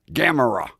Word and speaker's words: Gamera: Gamera. That's how they pronounce it.